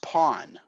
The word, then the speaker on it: pawn: least important person okay seppia no this is pronounced pawn fine yes but the English equivalent of peon